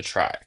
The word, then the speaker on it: trie: So, we're just going to kind of pronounce it as a try, like a tr.